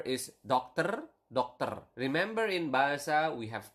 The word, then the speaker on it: dokter: And then doctor is dokter. Remember in Bahasa, we have covered this in previous lesson. You need to pronounce the R. Okay, so dokter. Not doctor or something like that, but dokter. Okay, so with a doctor is dengan seorang dokter.